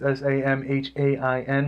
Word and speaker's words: Samhain: It's Samhain, which is the Celtic Festival of the Dead, and starts the Celtic New Year.